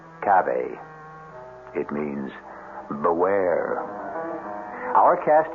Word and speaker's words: cave: word spelled the same way C A but pronounced cave it means beware our cast included Mar and